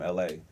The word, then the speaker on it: ELHAE: And I also have an R&B artist from Atlanta named LA. It's spelled ELHAE though.